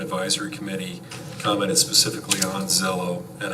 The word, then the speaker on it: Xello: Well, Z sound out of an X, that's.